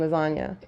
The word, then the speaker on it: lasagna: them see you coming like the silent G and lasagna Italian the Jewish guys